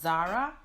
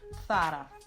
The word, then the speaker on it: Zara: This very well-known Spanish fashion brand is pronounced correctly in Spanish from Spain, Zara. Zara. So it's not Zara, but it's Zara.